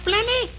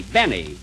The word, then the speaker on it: Benny: Jack Blenny? Blenny? No, Benny. The L is silent in there.